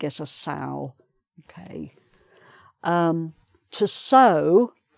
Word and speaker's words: sow: To sow, S-O-W, is to put seeds in the ground for them to grow. So you can link sow with grow if it helps you remember.